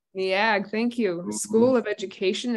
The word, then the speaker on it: Neag: Kearns, PhD, is an associate professor of special education in the Department of Educational Psychology in the, help me pronounce this school, NEAG. NEAG, thank you.